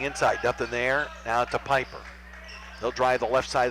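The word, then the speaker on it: Pieper: Near side for Piper, who spells his name P-I-E-P-E-R, but it's pronounced Piper. So it's like Piper. Campbell looking inside, nothing there. Now to Piper.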